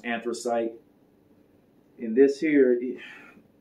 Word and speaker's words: Anthracite: And some people say Anthracite, but I think it's pronounced Anthracite.